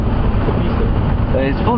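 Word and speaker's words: Tshepiso: Tebiso. So his full name is Tebiso, and that would be spelled? T-S-H-E-P-I-S-O. Say it again. T-S-H-E-P-I-S-O. T-S-H-E-P-I-S-O. Tebiso.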